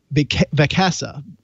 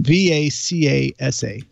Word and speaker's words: Vacasa: check out this site called big casa I'm pronouncing it wrong VA CA sa Picasa is probably not I know people have used vacasa and loved it doc